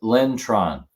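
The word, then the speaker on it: Linh Tran: That's Lin Tran.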